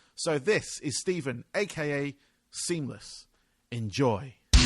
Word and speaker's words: SeamlessR: So, uh, seamless, um, or seamless R, but I understand that the R is silent.